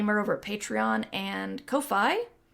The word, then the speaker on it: Ko-fi: If you want to support the podcast, it's Mighty Mur over at Patreon and Ko-Fi, which people have told me is the proper way to say it.